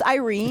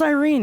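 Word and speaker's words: Yrene: Oh, it's pronounced Irene. Just Irene.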